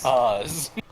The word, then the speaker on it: Caz: uh what's his name Caz right it's pronounced cause CA I'm calling fancy I'm